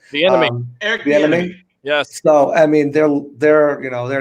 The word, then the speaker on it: Bieniemy: And luckily they have Andy Reid there and Eric Bieniemy, I believe is how you say his last name. Eric Bieniemy.